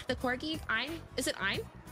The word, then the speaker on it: Ein: Ein, the corgi, Ein, is it Ein? I think you say it like Ein, like Einstein, Ein.